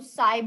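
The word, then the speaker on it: psi: हैं गुस्साए उज्जैन कि पैसे लिखने में पीएसआय होता है पपीते साइलेंट होता है तो साईं बोला जाता है ऐसा आए और सिंपल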